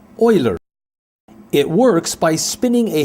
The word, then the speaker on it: Euler: It looks like it should be pronounced Euler, but this German name is pronounced Euler.